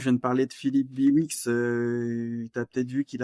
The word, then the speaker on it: Bihouix: Et donc Biwix, juste pour ceux qui nous écoutent, ça s'écrit Bihouix.